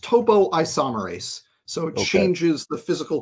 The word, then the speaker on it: topoisomerase: It's actually probably topoisomerase. It's pronounced topoisomerase.